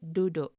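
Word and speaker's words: duduk: to sit notice that the u in the second syllable is pronounced like o in the o in boat in english but u in the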